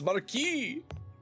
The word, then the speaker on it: Marquis: is just the British pronunciation. They're wrong. It's Marquis.